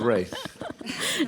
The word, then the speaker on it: Ralph: Yes, the Ralph, in an old-fashioned form of pronunciation, is Rafe. And my father had a step-grandfather called Rafe, spelt Ralph. So he wanted me to be Rafe. And all my life I've had to correct people.